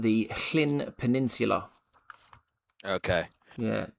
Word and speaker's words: Llyn: 2 L's is pronounced like you're trying to get like a phlegm, like clear the back of your throat.